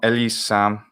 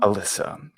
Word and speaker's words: Elissa: There's a difference between the way I say my name in English and the way I say my name in Italian. Because Ovviamente. the vowels change. Mm, And dici. yes, and I put the double S in the Italian version.